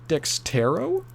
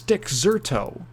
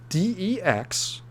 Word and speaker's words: Dexerto: People always pronounce it Dextero. It's Dexerto. Dexerto. Dexerto. It's not Dextero, like dexterity.